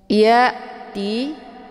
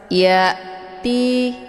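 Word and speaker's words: يأتي: Ya'ti ini ada hamzah sukun. Cara bacanya, hamzahnya ditekan, kemudian bacaannya jelas. Ya'ti bukan ya'ti, ya, dengan bacaan tebal, itu bacaan yang salah.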